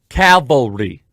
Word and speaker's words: cavalry: calvary to come cavalry now anyone in the christian world knows that there's a difference between calvary and calvary i sometimes without unintentionally mispronounced one or the other but i know the difference calvary c-a-l cavalry one is where christ was